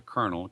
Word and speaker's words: colonel: the way it looked eventually this was corrupted to Colonel k r n- l still not bad